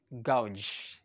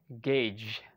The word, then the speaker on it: gauge: is gauge gauge okay some people say especially some of my students okay they say gauge gouge okay but the exact pronunciation of this word is gauge okay if you can